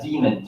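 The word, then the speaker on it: daemon: a no nope but I've always read that as de MLM and that's pronounced demon yeah I believe so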